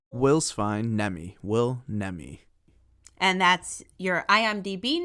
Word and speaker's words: Nemi: us here how do you prefer your name pronounced wills fine nemi will nemi and that's your IMDB name is that the